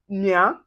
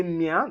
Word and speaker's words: mien: And then when you see IEN or YEN or E accent aigu, that's the acute accent with the EN, we pronounce it as un.